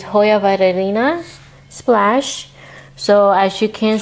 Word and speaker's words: Hoya Vitellina: So I believe it's pronounced Hoya Vitellina. Vitellina? You have to say it really fast to make sense. But it's Hoya Vitellina Splash.